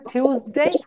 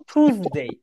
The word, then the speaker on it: Tuesday: ব্রিটিশরা এটাকে বলে টিউসডে, আমেরিকানরা এটাকে বলে টুসডে।